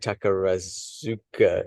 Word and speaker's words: Takarazuka: So I'm trying to, and apologies, I'm mangling all of my Japanese pronunciations here, but is it Takarazuka? No? Perfect. Yeah, Yeah, Takarazuka. Because it's spelt more like Takarazuka in English Roman characters.